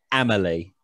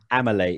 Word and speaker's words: Amelie: Amelie. Amelie. Amelia's dead. Amelie. If you say it wrong again, you lose a wound.